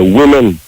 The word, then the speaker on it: women: men, and I say women. Yeah. The O sound like an I.